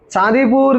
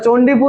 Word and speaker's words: চাঁদিপুর: চাঁদিপুর লেখা রয়েছে, ওটা চণ্ডীপুর নয় রে, ওটা চাঁদিপুর উচ্চারণ। হ্যাঁ, চাঁদিপুর হবে উচ্চারণ, CHANDIPUR লেখা আছে তাই তো? সেটা চণ্ডীপুর নয়, এটা চাঁদিপুর উচ্চারণ হবে।